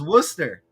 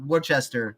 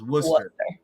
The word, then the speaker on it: Worcester: right I'm it's pronounced Worcester yeah for those people that don't know it's not Worchester like the sauce this is Worster right and the other